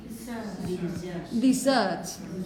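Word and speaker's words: dessert: you have in here the stress is on the second syllable desert these thirds okay these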